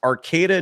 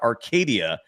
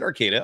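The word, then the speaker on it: Arcata: Um David Sassy in the chat writes it's Arcada not Arcadia. I never said Arcadia. I said Arcada.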